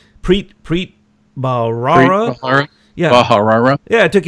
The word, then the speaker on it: Preet Bharara: Preet Bharara.